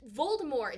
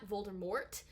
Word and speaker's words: Voldemort: of harry potter where voldemort is french ergo you do not pronounce the t on the end i don't know how